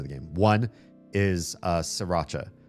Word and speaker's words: Sriracha: I know some people see the R after the first S in Sriracha and they want to say Sriracha or something like that. I don't correct you. You want to pronounce that R, go ahead. It's not how the place that invented the sauce pronounces it.